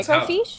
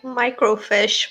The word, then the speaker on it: microfiche: That's how Microfiche? that's how it's pronounced. Yeah. It sounds like you're saying it like microfish, but with like a European accent.